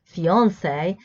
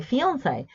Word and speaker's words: fiancé: Yes, British English likes to anglicize words of French origin, so they pronounce it in an anglicized manner, so they say fiancé. But Americans like French and the French, so they say fiancé, trying to imitate French pronunciation.